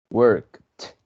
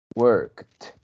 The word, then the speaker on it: worked: Entonces las letras ed en ese verbo, en pasado o pasado participio, sonarán como una T, como cuando decimos cat, cat, cat. Ese final es como vamos a pronunciar la ed en ese verbo. Entonces, cat, worked, worked, porque es después del verbo normal, le ponemos un sonido de T.